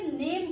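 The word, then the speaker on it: name: इसकी मिसाल मैं यूं पेश करूंगी कि हमारे यहां फर्ज कीजिए नेम की स्पेलिंग है एन ए एम ई। हम इसे नेम बोलते हैं। आखिर वाले इ को कंसीडर नहीं कर रहे।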